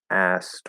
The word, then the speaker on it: asked: linked to speed um when we're speaking fast we're very unlikely to push out that k um this is actually a different rule um it's not about the speed um so here we have a s k ed but remember the e is silent and when it comes to english pronunciation silent letters have no effect on the pronunciation okay this is one reason